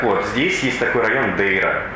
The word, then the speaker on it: Дейра: Так вот, здесь есть такой район Дейра. И люди говорят, это Дейра, ребята, это Дейра. Собственно, некоторые русские называют ее просто «Дыра». Это название неправильное, нужно произносить «Дейра». Давайте не путать.